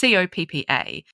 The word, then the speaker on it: COPPA: Is it COPPA or COPPA? It's COPPA.